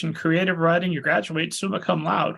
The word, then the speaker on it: summa cum laude: So originally you're at Bucknell University, you get an honors in English and creative writing, you graduate summa cum laude, right?